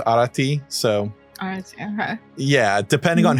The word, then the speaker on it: Arete: so throughout the generations, they kind of changed the pronunciation of her name to like a more contemporary. So yeah, a lot of modern day people were calling her Arete, but really her name is Arete.